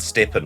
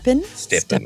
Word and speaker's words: Stephen: Some people have trouble when they see the name, how to pronounce the first name, which I always think is easier of the two.